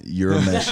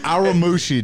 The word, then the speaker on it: Urameshi: How do you pronounce that? Urameshi. Oh my god. Urameshi, dude.